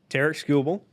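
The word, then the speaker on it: Tarik Skubal: dive in the numbers Terk scoble that's his name I said that earlier yeah yeah that's how you say it um 31 games started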